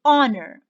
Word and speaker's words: honor: before it and why and the silence and i'm going to start pronouncing from the o sound so i say honor i say our i